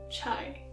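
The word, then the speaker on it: çay: Yes, you can't forget about the Turkish coffee and the Turkish chai.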